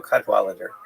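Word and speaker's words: Cadwalladr: So, there's a very good reporter there named Carol Cadweller. The last syllable is kind of interesting. It's because it's there's no vowel. It ends with DR. Carol Cadweller and she had written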